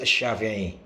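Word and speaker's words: الشافعي: Ya, Imam Syafi'i lah ya. Kalau kita bilang Indonesia Imam Syafi'i atau Asyafi'i yang lebih tepatnya pakai al ya. Kalau gak pakai al itu ya addakhili itu salah dalam pengucapan.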